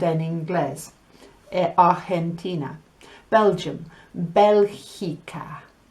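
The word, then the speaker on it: Bélgica: Belgium, Belgica. Belgica. That GI makes a he sound. Belgica.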